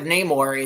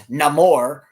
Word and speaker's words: Namor: And they eviscerate and from what I've read about and I can't pronounce it because I can't roll my R's, but it's Namor. Instead of Namor, it's Namor, which is one of the changes that everybody had to make.